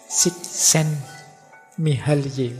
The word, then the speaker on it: Csikszentmihalyi: Csikszentmihalyi. Oh, itu kalau ditulis dalam bahasa Arab tambah ruwet itu bacanya.